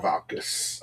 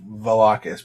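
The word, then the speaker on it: Valkas: Or Valkis. I always say Valakis, but it's wrong. Because I say it wrong.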